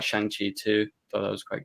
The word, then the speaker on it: Shang-Chi: I like Shang-Chi too. Thought that was quite good. Chong-Chi, not that. Shang-Chi.